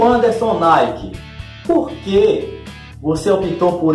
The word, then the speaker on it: Nayk: Aí eu pensei, vou colocar o Anderson Nike, mas eu não vou colocar Nike como se escreve na marca. Aí eu coloquei o N-A, aí eu coloquei o Y e o K.